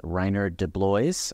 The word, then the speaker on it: Reinier de Blois: His name is Reinier de Blois. I just confirmed that pronunciation with him.